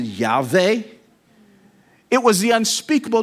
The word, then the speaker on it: Yahweh: Jehovah, but technically speaking, there's no such word as Jehovah. That's just phonetically put together. It's an abbreviation. The closest we get in Hebrew is, I guess you could pronounce it Yahweh.